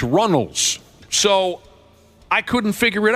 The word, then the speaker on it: Runnels: It's not Reynolds. It's Runnels.